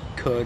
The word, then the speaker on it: could: I never would have thought an L would ever be silent. But I guess it is in words like could or would.